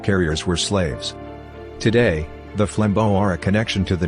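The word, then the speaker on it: flambeau: after their introduction the flambo pronounced flambo meaning flame torch carrier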